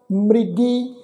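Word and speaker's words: ਮ੍ਰਿਗੀ: तो इसका पाठ उच्चारण करना मृगी, इनू मृगी नहीं उच्चारण करना, मम्मे नू सिहारी लगा के पाठ नहीं उच्चारण करना। मम्मा अखर जिहड़ा मुक्ता उच्चारण होएगा, रारे नू सिहारी ला के पाठ उच्चारण होएगा मृगी।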